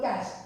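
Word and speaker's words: cache: called jargon some professionals use this one like cash there is a word called cash c-a-c-h-e most of the people cash when we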